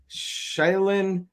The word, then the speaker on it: Shaolin: Shaolin like Shaolin, China.